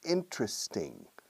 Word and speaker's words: interesting: 3 syllables, interesting. Technically, there are 4, interesting. But most people say interesting, interesting. In Oklahoma and Texas, many people say, interesting, that's interesting, all right? But I recommend interesting, interesting.